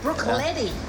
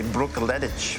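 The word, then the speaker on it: Bruichladdich: Brook Laddie. Yes, and you might look at the word and say Brook Laddich, but when you pronounce it the Gaelic way,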